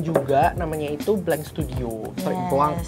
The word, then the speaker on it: Blanc: Blanc ya bacanya. Blanc. Maaf banget ya bahasa Prancis.